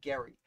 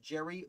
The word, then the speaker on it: Gerry: man from uh massachusetts mr gary i don't think he's pronounced jerry though gerrymandering is named after